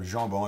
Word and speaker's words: jambon: We both share the same common ancestors, and both of us grew up hearing the H sound. For the sound je. So for example, for my name, Hombon, you should have jambon, it's pronounced Hombon.